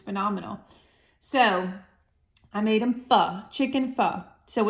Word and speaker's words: pho: And I hope I'm pronouncing it correctly, because I looked it up 8 times and then you guys told me that it's pho.